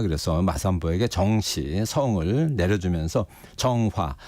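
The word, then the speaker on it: 鄭和: 마삼보 정시 성을 내려주면서 정화 중국 발음으로는 정 허가 됩니다 예 그리고 이제 환관으로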